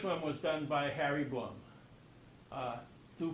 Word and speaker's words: Blum: but the first one was done by Harry Blum. Do pronounce his name that way.